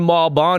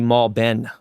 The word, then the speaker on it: Malbon: We've been saying Malbon. It's actually Malben. They say Malboni, Malben, Malbon, but There it is. My family would say Malben.